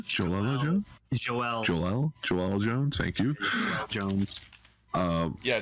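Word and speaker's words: Joëlle: It's like Joe, but there are like 2 I's above it. So like Joel Jones. Joel Jones.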